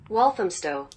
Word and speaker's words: Walthamstow: Walthamstow. Walthamstow. I would have never got that. Thank you, girl. Walthamstow.